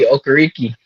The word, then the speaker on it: Okereke: Bobby Okereke.